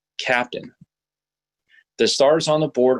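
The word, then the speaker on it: CAPTN: for example the spelling of Capt n is pronounced captain the Stars on the board are locations of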